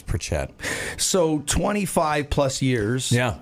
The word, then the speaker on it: Pritchett: know it every set everybody says that's the area it's pronounced with the most people but for some reason I don't know how my family managed to gain this weird accent on it but it's Pritchett so 25 plus years